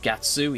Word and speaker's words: Guts: few quirks such as Guts being called Gatsu even though it's spelled Guts on the frickin' box, and Zoddo.